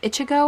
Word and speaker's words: Ichigo: So this is about a boy named Ichigo, I believe is how you pronounce that.